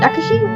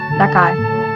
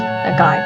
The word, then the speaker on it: Nakai: Nakashi? Well, how did I get that? Nakai. There we go. Exactly how it's pronounced. Nakai.